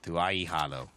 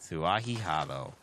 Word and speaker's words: Tuahi Halo: Tuahi Halo. There it is. I was missing a syllable there, trying to blend it all together. Tuahi Halo.